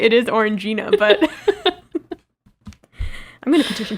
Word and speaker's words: Orangina: That's not how you pronounce that drink, right? It is Orangina, but...